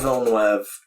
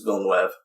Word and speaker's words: Villeneuve: Denis Villeneuve, and I'm sorry if I'm pronouncing it wrong.